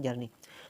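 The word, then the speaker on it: Czerny: को पता होना चाहिए इसकी स्पेलिंग ठीक है तो सी से स्टार्ट होती है और इसे पढ़ते हैं जर्नी तो कुछ इस तरीके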